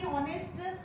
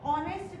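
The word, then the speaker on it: honest: mister Sharma is, अब देखो फिर मैंने बोला अभी ऑनेस्ट, एच से स्टार्ट होने के बावजूद भी हम प्रोनाउंसिएशन क्या कर रहे हैं, ऑनेस्ट का कर रहे हैं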